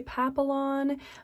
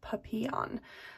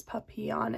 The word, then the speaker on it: papillon: that a lot of people who speak english say papillon but it is actually a french word that means butterfly and when i looked it up from that perspective is when i got the pronunciation papillon so like the y sound instead of the l's puppy on and of course with